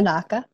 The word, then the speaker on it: Biernacka: So Blessed Marianna Biernacka, did I pronounce that correctly? Biernacka.